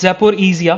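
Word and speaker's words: Zaporizhzhia: अगर आप प्रोनाउंसिएशन देखोगे इसका तो इट्स जेपोइजिया। तो ई को थोड़ा सा लंबा समय तक ये लोग लिखते हैं। सो रिजिया या रिजिया नहीं है, ईजिया है।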